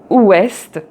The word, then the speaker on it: ouest: And so here, for example, you have est, ouest, aussi but et test. Donc j'ai un test. Donc j'ai un test. Voilà. So here you see the final T is pronounced.